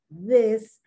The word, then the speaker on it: this: lot of people cannot pronounce the difference between this and these because they can't they they don't distinguish or their tongue doesn't help them to distinguish between the short eye this and the long e these those is the